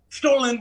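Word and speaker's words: Stollen: the fruitcake and stolen is that how you pronounce it stolen stolen would be the specific german pronunciation she says those recipes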